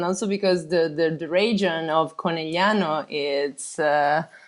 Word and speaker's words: Conegliano: Was Conegliano. that Conegliano? Conegliano, exactly. So just forget this G in the middle of the word. No, you have to pronounce GL.